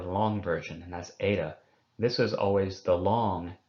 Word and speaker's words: eta: Most classicists, when they're reading an eta, they do tend, in the English-speaking world, to qualitatively pronounce it differently as well as quantitatively from the epsilon.